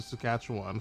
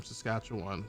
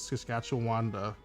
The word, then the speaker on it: Saskatchewan: Because she likes the name Saskatchewan. But then she says Saskatchewanda. Doesn't even say it right.